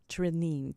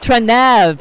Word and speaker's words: Trenev: welcome my guest Trine to my show hi hello thank you just wanted to say the last name is TRV Trev all right I pronounced it wrong I should have asked